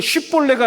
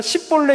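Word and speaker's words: שיבולת: 쉬가 아니라 시 이런 발음을 내는 거예요. 그 십볼레가 아니라 십볼레 이런 발음을 내는 거예요.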